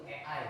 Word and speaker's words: AI: AI itu AI itu EI ya bacanya.